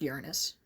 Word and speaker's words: Uranus: there really was a Sailor Uranus Uranus it's pronounced Uranus even the cloverway dub pronounced it correctly and